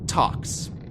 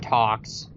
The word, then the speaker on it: Tawks: we've got here with talks talks ta wks Jeff well real quick so what's interesting is it talks it rhymes with squawks it's spelled like squawks but if you actually